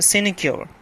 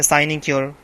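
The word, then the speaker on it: sinecure: और सिनिक्योर या साइनिक्योर, दोनों इसके लिए प्रोनाउंसिएशंस ठीक हैं।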